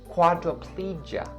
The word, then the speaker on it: quadriplegia: So quadriplegia. You just have to take out the last syllable of the first word and then embed in the j sound for the second word. So quadriplegia.